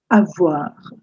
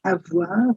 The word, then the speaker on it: avoir: So, have is the verb, and in French, it's called avoir. I've given you Hindi transliteration. It's avoir. That's how you pronounce except that that r is not the r. It's the French r.